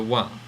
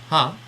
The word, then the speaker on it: は: Now, while this character is normally pronounced as ha, it is pronounced wa only when it is being used as the topic particle. So it's usually pronounced ha, but now we're pronouncing it wa.